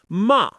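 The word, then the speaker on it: 骂: A classic example is ma, which means to scold. Say it firmly with me. Ma start high and drop straight down.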